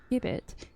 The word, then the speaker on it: gibbet: It begins with a hard sound, not a soft one, obviously.